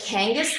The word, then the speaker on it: Kangas: Kangas, yeah. Yep, like kangaroo.